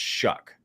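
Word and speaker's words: Shough: Sorry, it's pronounced Shuck.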